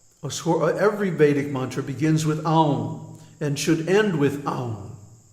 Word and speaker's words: Aum: that the pranava, Aum, don't mispronounce it Om, because first of all, it has three letters, A, U, M, A, U, M, and each one gets a full beat. So it's not Om, it's Aum.